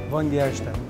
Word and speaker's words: Vongerichten: So many syllables. Vongerichten. Vongerichten? Yeah, exactly.